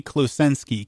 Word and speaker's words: Klosenski: yeah that's I mean three three syllables three three word letters per syllable all phonetic but it's a weird string of phonemes right so it's uh klusensky k-lo s is in Samuel e n is in